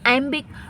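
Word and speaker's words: iambic: playlist में जाकर तो यहां आई एम बिक आई एम बिक आई एम बिक तो दो सिलेबल है इसमें अच्छा अब बताओ कि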